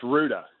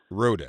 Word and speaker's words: Rouda: Yes, Rouda. Rouda. Rhymes with Gouda.